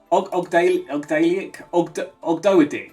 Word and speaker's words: Ogdoadic: I can't even pronounce it. Ogdoadic.